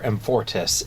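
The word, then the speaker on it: Amfortas: Amfortis, and he learns that... So that's how you pronounce that.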